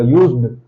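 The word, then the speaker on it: used: Pronunciation बिल्कुल same जाता है ऑलमोस्ट, बस क्या है कि जब यूज्ड बोलते हैं तो डी पे थोड़ा सा एम्फसाइज करते हैं हम लोग अपनी टंग का, यूज्ड।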